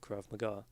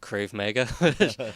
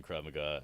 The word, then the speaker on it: Krav Maga: you take and teach Krav Maga and again idiot for a long time I pronounced crave mega I have in my